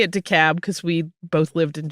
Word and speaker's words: DeKalb: to let you know the crazy way locals pronounce DeKalb. They say the L sound. We say it DeKalb because we both lived in Georgia.